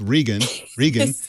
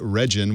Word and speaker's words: Regin: But I think that asking Americans to roll an R is asking too much. So let's go with Regan. Instead of my Regin, which was way off.